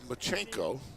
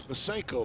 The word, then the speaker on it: Masenko: And then I've been called Machenko. So people say, well, are you Japanese? Yeah. You know, I've had some real great pronunciations of my name. I said it's Masenko, like a kitchen sink, you know, sank, Masenko.